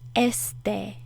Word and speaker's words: este: In Spanish, this means este. That's how you say it. Este. Este. Put more of the emphasis on the first E, not the last E.